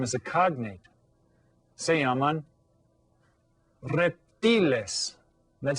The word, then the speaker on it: reptiles: So that you can see that it's spelled exactly the same, but it's pronounced a little bit differently. Reptiles. Because remember, those vowel sounds are always pronounced the same in Spanish.